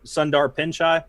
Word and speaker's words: Pichai: be Bezos, Mark Zuckerberg, Tim Cook, and Sundar Pichai.